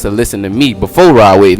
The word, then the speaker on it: Rod Wave: I called him Rowdy Wave. I thought I was saying his name wrong. Yeah, Rod Wave, because I listen, you